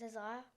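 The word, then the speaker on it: Hazaiah: your name what's your name my name is isah how do you spell it h a z a i a h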